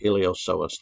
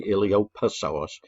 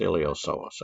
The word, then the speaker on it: iliopsoas: all the time so iliopsoas the p is silent don't say iliopoisos it's iliopsoas okay um and then